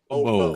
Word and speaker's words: Hobosexual: Pronounce the B really strong. Hobo.